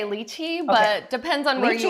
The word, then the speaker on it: lychee: So I want to know, is it lychee or lychee? Is it lychee? I would say lychee, but depends on where you Lychee are.